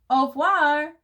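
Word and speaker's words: au revoir: i tell my fans au voir you say it like this that's french for goodbye on my door i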